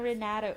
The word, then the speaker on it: Renato: Dahil ba ng Renato? Kabalo- Renato. kabalo- Silent T na ya. Renato. Renato. Renato.